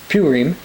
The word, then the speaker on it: Purim: Esther is read during something they call the Feast of Purim, which is actually pronounced Purim, and we'll mention that term later when we go in the book.